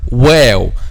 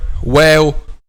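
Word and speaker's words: واو: lips, is the letter wow. So how we pronounce the letter wow? Letter wow, my dear students, is pronounced by closing the two lips without meeting completely.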